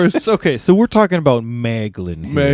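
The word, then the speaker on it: Maeglin: His name kind of rhymes with gag. Gag gaglin. Gaglin. That's of course. Okay, so we're talking about Maglin here.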